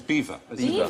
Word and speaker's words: Belvoir: Mannering as in kept remembering the bottom is beaver beaver the Vale of Beaver I'm going to